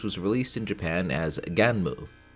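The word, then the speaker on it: Gunnm: released in Japan as ganu which is the most proper pronunciation I could find and apparently a portmanto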